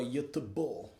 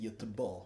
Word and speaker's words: Göteborg: I think for Göteborg, is how they pronounce it, Göteborg.